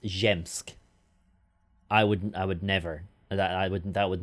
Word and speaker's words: Zsiemsk: Zsiemsk is pronounced Zemsk.